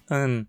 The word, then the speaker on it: ihn: formas da terceira pessoa, ihn, sie, es, sie, costumam ser pronunciados de forma átona, ficando an, se, certo?